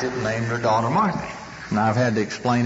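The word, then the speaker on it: Marthe: And by the way, my wife's name is Marthy. M-A-R-T-H-E. You know, I say that and people look at me and say, that poor nut doesn't even know how to pronounce his wife's name.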